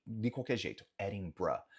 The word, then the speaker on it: Edinburgh: Nota que sim, se vai ter esse R, o som no final é como se fosse um B-R-A, ou um B-R-U, no sentido de schwa, né? No som de schwa no inglês. Edinburgh.